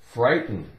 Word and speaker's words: frighten: the word frighten frighten f i g h silent t n so we have f r I fry fry t n 10 frighten frighten we don't really make much of a sound with that T it's more like frighten